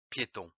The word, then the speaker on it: piétons: T-O-N-S se prononce ton. On ne prononce pas le S en fin de mot. Attention, ici, il y en a plusieurs. Les piétons.